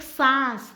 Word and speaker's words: सांस: कमलाबाई ने एक सांस, देखो सास उच्चारण पर ध्यान दे दो, सास यानी मदर इन लॉ और सांस यानी श्वसन, ब्रेथ में अपनी, हाँ, उसने सब कुछ कह दिया और वह बर्तन मांजने बैठ गई।